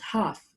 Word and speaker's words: half: so the half here the L is silent guys don't don't say it health and silence is eight half without sounding the L